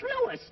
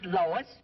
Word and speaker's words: Louis: Me name is Louis, not Lois.